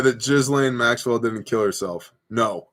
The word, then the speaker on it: Ghislaine: Yes, Ghislaine Maxwell didn't kill herself yet. By the way, I know that it's pronounced Ghislaine, but you spell your name Ghislane.